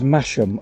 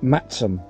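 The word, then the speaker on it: Masham: there's a van cake cake cake the term phonetically is mashem although locals pronounce it Maxim two breweries are based here theekstones and black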